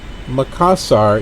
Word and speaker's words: Makassar: a monorail that goes through there trans studio makassar is the third largest indoor theme park in